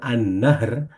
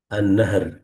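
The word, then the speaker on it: النهار: Kalau H-nya tidak panjang, annahr itu nanti berarti sungai. Kira-kira gitu. Itu ee info saja. Annahar. Ah, ini bedanya kayak gini. Annahru ini berarti sungai. Jadi harap hati-hati dalam pengucapannya.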